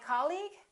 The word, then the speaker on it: colleague: words the second one did you say colleague or colleague he's my colleague that's right once again it's the first syllable repeat after me colleague colleague he's my new colleague let's look at the